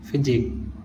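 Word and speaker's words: physique: जब किसी वर्ड के लास्ट में क्यू यू ई लेटर एक साथ आता है तो क्यू यू ई में क्यू का उच्चारण हम का से करते हैं। जैसे यूनिक, ऑब्लिक, मॉस्क, फिजिक।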